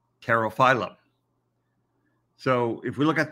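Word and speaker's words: Pterophyllum: terrifiedo so terrify them in this case the p is silent and you just say terra phylum so if we look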